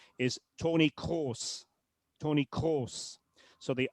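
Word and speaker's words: Kroos: Um but the correct pronunciation of this fellow's name is Tony Co.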